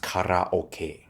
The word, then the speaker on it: karaoke: playing games, casual games, and even some cheeky karaoke. Is actually pronounced karaoke.